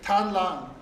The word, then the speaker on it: Tan Lang: This is spelled T-A-N. T-A-N, not T. Tan Lang.